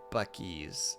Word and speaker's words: Buc-ee's: It's pronounced Buc-ee's.